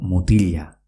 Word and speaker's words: mutila: Por ejemplo, mutila, que se escribe M-U-T-I-L-A, que es chico, se pronuncia mutilla. Parece como si fuese una elle, aunque se escribe con una L.